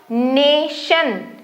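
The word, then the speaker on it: nation: च के जैसे साउंड नेशन नेशन यहां पे मैंने स्पेलिंग एक्चुअली मैंने उधर बता दिया चलो नेचर ठीक है च साउंड बना रहा है श नेशन स्टेशन श जैसे बन रहा है टी।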